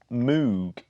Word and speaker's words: Moog: to be manufactured by Moog is actually announced know what well see mogh the synthesizer is pronounced mo Wow but I think Moog the rocket parts company in the UK is pronounced Moog do you yeah but